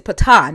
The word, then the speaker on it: patah: So it says, translation is translated as deceive, to entice or persuade is the word Yeah, pata. but here it's patah, not pata.